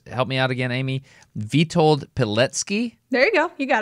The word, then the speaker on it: Witold Pilecki: But if I understand correctly, the guy's name that I've asked you to research is Witold Pilecki.